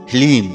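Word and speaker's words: ह्लीं: ध्यान से सुनिए ओम हलीम जी हां मित्रों मंत्र को एक बार आप फिर से ध्यान से सुनिए ओम हलीम इसमें हा ला और बड़ी ई की मात्रा और अं की बिंदी फिलीम यह है माता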